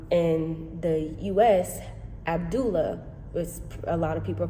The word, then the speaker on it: Abdullah: And even the pronunciation, like, for example, the name in the U.S., Abdullah, a lot of people pronounce it Abdullah. Here, the name is pronounced Abdullah.